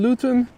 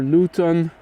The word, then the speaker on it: Luton: jet arriving from London luten which is gluten without a g or Luton Luton proper pron pronunciation p in day triple